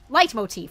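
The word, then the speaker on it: leitmotif: this occasion how do you how do you pronounce this word light Motif light Motif thank you thank you light Motif all right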